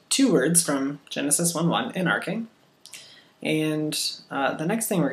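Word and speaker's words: ἐν ἀρχῇ: Okay, so say en-arche, or if I was going to spell it phonetically, it would probably look like something like this. En, or that looks like en. This is in. En-arche. Let's say A-R-K-A-Y. Arche. Like that. En-arche. That's the phonetic spelling.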